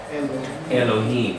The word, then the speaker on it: Elohim: Elohim.